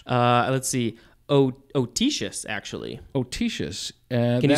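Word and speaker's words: autoecious: adjective autosis atocious uh let's see otisius actually otisius can you spell it c i a-u-t-o-e-c-i-o u s it's got toe in the middle of it so that goes back to 1877.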